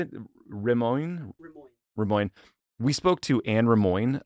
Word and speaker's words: Rimoin: Rimoin.